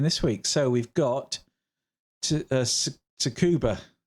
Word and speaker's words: Tsukuba: So we've got Tsukuba. I can't quite pronounce it, but I think the T is silent.